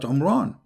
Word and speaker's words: Imran: Moses and Aaron because his name is Imran so the last letter is M not in so the foolish Mohammed he thought that Mary she is the daughter of Imran and home Ron is